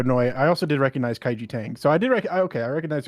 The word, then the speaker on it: Kaiji Tang: Okay, no, I also did recognize Kaiji Tang. So I did I recognized a couple. KG. It's pronounced Keiji Tang.